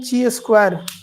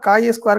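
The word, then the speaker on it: chi-square: Pronunciation ची स्क्वायर नहीं, pronunciation इसका दूसरा होगा, ठीक है। प्रोनाउंसिएशन इसका काई स्क्वायर करके पूछता है, ची चूंकि लिखने में लगता है।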